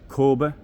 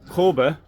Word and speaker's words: Kabe: It's from Kabe. The Kabe is written, I think the A with a thing on it in Swedish is pronounced O.